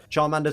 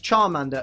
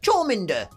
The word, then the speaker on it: Charmander: that you'd even think that we would pronounce charmander as chominder chawminder but of course what should